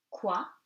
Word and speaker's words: quoi: Q and U gives you K. You do not pronounce the U. So, quoi, que. Remember, IE gives you E and OE gives you wa.